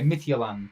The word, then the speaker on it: Midtjylland: But yeah, so say it like Midtjylland. Is that how you say it? Is it Midtjylland? Midtjylland. Ah, okay, Midtjylland.